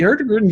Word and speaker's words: Hurtigruten: And we're going to find they actually Hurtigruten just gave out a big offer for National